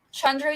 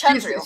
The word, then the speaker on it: Chandru: It's Chandru. She's Chandru, yeah. So Yeah, the D is it's a DH, so it's a the sound instead of Chandru.